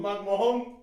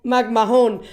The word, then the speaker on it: McMahon: again magm magm bro the H is silent like I would and